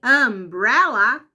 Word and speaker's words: umbrella: Só que no caso da palavra guarda-chuva, sombrinha, que começa com U também, umbrella, esse U já vai ter som de vogal A.